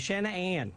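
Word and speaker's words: Shanann: I'll say because um ever since I knew her it was always Shan an like and I'd break it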